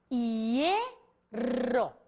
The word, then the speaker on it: hierro: Portanto, se eu falo hierro, o acento prosódico está na vogal E.